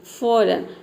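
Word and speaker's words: foreign: यहां पर देखिए रिजाइन फॉरन इसको फॉरेन भी बोलते हैं कई स्टूडेंट कई लोग इसको फॉरेन भी प्रोनाउंस करते हैं तो आप फॉरन बोलिए या फिर फॉरेन बोलिए फॉरेन फॉरेन ठीक है और यहां पर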